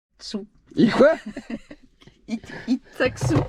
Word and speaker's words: Itxassou: Itaksu. Ah oui, tu le prononces super bien.